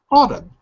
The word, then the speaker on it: autumn: called autumn yeah autumn so that sound all is written with that circle looking thing all like the word ball would be written in the same way of this word look in the chat